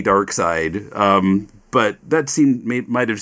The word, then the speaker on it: Darkseid: brother and I were reading his name as dark seed so we didn't get the the joke of his name but you know yeah there was a GI in English hard to pronounce lad but yeah I guess it's supposed to be dark side but that seemed might